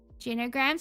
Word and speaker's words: Genogram: Genograms, you'd have a mental breakdown trying to remember that word. Genogram is how you say it.